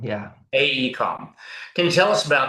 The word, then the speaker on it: AECOM: AECOM? AECOM, yeah. AECOM.